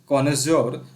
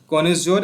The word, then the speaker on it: connoisseur: हमारे सामने दिया गया, ये है आपके सामने कॉनेज्योर ऑफ क्रिटिकल जज ऑफ एनी आर्ट and craft. ठीक है, एक इंपॉर्टेंट वर्ड है, इसका स्पेलिंग आपसे पूछा जा सकता है, CONNOISSEUR। ठीक है, कॉनेज्योर ये क्या होता है, विशेषज्ञ, जिसको हम सब